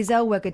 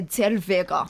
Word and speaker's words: Zellweger: She was before Renee Zellweger did it. But they tend to go posh, don't they? I pronounce the W as a V. Do you? Renee Zellweger. It's just me. Why don't you say Zellweger?